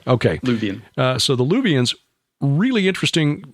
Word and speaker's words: Luwian: People called the Luwians, Luwians, and I've also heard it pronounced Luvian. So Luvian is correct? Right. Okay. Luvian.